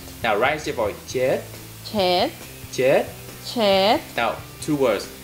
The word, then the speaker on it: muốn chết: Muốn chết. Muốn chết. Good, that's better. Now, try to pick again. Again, again. Muốn. Muốn. Chết. Chết. Good, but do not pronounce the final sound.